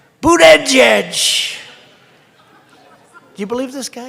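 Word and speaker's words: Buttigieg: I think it was boot edge edge boot edge edge they said think of it as boot and then edge edge because nobody can pronounce this guy's name oh but boot edge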